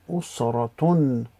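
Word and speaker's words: أسرة: usra, and the ta marbuta with the dhammatain, usratun, usratun. So the ta will be changed to a normal ta before pronouncing it, so usratun, which is family.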